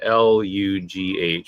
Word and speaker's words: Lugh: Lunasa is named for the Irish sun god Lu, and is usually it's spelled Lugh, but it's pronounced Lu.